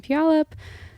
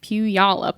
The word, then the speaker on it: Puyallup: spell that for me p-u-y-a-l-l-u-p Pew y'all up almost like Puyallup wow okay I don't